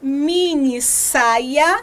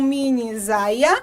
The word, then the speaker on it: minissaia: ortografia diz o seguinte se eu tenho uma vogal e outra vogal para eu conservar o som do s eu vou ter que fazer uma duplicação então para eu ter a pronúncia de minissaia e não minisaia eu vou precisar duplicar o mesmo acontece com